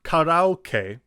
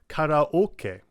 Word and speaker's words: karaoke: It's not karaoke, it's karaoke.